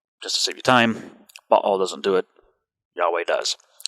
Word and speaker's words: Baal: Now, you may know him as Baal, but I was taught to pronounce it Baal.